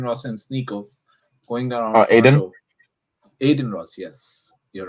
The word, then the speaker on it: Adin Ross: his name Adin Ross and sneo going around Aiden Ross yes you're right yeah Aiden Ross and sneo